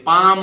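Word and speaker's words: palm: शांत इसी तरह पाम ये पाल्म नहीं है क इसको बोल दे पाल्म ये गलत है भाई ये पाम बोलेगा पाम माने हथेली ठीक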